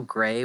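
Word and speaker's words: Grey: well let's be honest it's pronounced uh gray not gree green let's agree to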